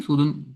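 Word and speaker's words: سُود: वो क्लियर है ना, ये सूदुन क्यों है, क्योंकि हमारे पास वाव है यहाँ पे बीच में, तो इसलिए ये सूदुन। अब यहाँ पे आप इसको सुकून लगा भी देंगे तो प्रोनाउंस हो ये खैर इसी तरह होगा ना, सूदुन, ठीक है।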